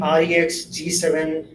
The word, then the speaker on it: REXG7: Somebody by the name REXG7 says hi. I, I think we are supposed to pronounce it as Rex.